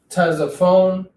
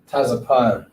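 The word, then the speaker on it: צפון: It's not Tazaphone, or however they wanted to pronounce it. The proper pronunciation is Taza, Pa, and then Na. With the connectors, we'll show you how to pronounce it. Tazapan.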